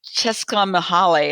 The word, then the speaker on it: Csikszentmihalyi: trouble pronouncing his name, Csikszentmihalyi, I think is how you pronounce his name.